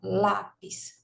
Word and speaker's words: lápis: Então, lápis. Bom, pis é a última, lá é a penúltima. Sílaba tônica é a penúltima, então é paroxítona. Lápis, estrela, janela.